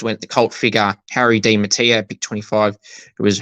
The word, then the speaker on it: Di Mattia: Harry Di Mattia. Not something else, it's Di Mattia.